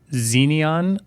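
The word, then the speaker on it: Xeneon: were two there's the corsair xenion i think is how you pronounce it xenon with an extra e yeah flex um and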